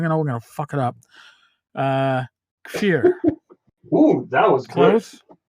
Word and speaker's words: Kfir: And today, I have a very talented artist with me, and I just asked him how to pronounce his name properly. we're gonna fuck it up. Kfir.